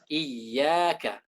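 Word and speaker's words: إِيَّاكَ: Agar suara iya itu benar-benar diucapkan dari tengah lidah, tidak seperti mat, tidak iyyaka, maka kita butuh tekanan. Kita baca iyyaka, iyyaka, iyyaka.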